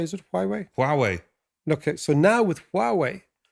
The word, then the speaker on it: Huawei: So now we see with, I never know how to pronounce it, Huawei, is it Huawei? Huawei.